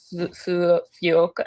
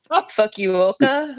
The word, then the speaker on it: Fukuoka: We're flying into Fu Foka. I need to learn how to say these things, by the way. Fukuoka.